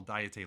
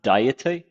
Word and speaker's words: Diet: in Thomas ly's book please request the National diete Library to investigate this matter secretaries of Satoshi Hamada's office wait that's pronounced diet I would have said it's diet I I